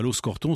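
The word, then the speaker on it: Aloxe-Corton: des formations des deux essais exclut donc à loos corton c'est la jointure c'est l'articulation entre la côte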